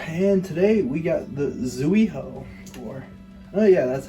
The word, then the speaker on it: Zuiho: Welcome back to another video, and today we got the Zuiho, or oh yeah, that's how it's pronounced.